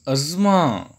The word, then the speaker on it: asthma: First word is asthma. Asthma. Asthma. We often see like that. But that was the wrong pronunciation. The right one is asthma, asthma, asthma.